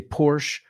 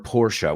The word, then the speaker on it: Porsche: Hay gente que quiere ser un poco pijillo and they say Porsche. So you can say Porsche or Porsche.